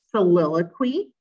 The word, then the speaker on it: soliloquy: So if you look at the first one here, this is pronounced soliloquy.